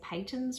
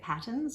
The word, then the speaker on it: Patons: Now, I am probably saying this wrong, and I'll admit I actually used to say Peyton's wrong. I used to say it patterns until I was corrected.